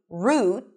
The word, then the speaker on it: route: This word is pronounced either with a tense U as in food, route, let's take this route, or route.